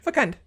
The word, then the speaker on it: fecund: So yeah, you pronounce the C as a hard C.